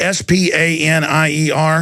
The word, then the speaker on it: Spanier: Is that how you pronounce it? S-P-A-N-I-E-R?